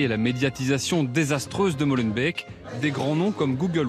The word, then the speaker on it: Molenbeek: On ne dit pas Molenbeek, mais Molenbeek. Molenbeek.